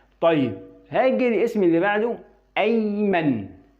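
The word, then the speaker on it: أيمن: طيب هاجي الاسم اللي بعده ايمن. ايمن. فبقول ايمن. يبقى هنا قرأت الالف اللي عليه همزة القطع من فوق.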